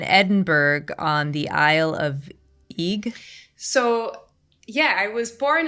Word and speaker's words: Eigg: So you grew up in Edinburgh on the Isle of Eigg? So, yeah, I was born in Edinburgh, and then when I was 6, we moved off to the Isle of Eigg, pronounced like Egg.